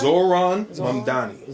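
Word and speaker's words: Zohran Mamdani: It's Zoran Mamdani.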